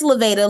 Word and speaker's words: Lavada: And is it Lavada? Is that how you say it? It is. Well, it's Levada, long A, but most of the time I go by Ms.